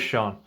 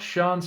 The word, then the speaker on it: Sian: Different pronunciations of that name. We're going to go with Sian.